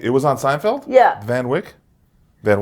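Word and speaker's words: Van Wyck: Is it How do you pronounce the van? Finish it. The Van Wet Expressway. The Van Wick.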